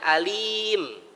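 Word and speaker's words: عليم: Alim artinya apa, Pak? Maha mengetahui. Ini tolong kita bacanya yang benar, Pak ya. Jangan bacanya alim, tapi alim. Ain, bukan a.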